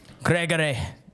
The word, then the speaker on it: Gregory: Gregory. Gregory. I feel like you really need to pronounce it with a. It's with a hard G.